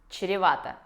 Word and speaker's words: чревато: Чревато. В этом слове ситуация похожа с маршруткой, потому что есть вот это сложное сочетание звуков ч и р. Чревато.